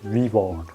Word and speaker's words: WeWard: de l'argent la première application que j'utilise s'appelle louis borg ça s'écrit w e w ard donc le but